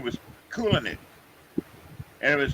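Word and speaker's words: Kulynycz: that was polish and his last name was cool in it and it was spelled k-u-l-y-n-y-c-z oh well pronounced coolin so i sort of learned how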